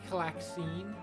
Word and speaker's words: Calxiyn: Some things were just like what was uh how was the channel originally pronounced or annunciated? Uh that was odd. It was Claxine.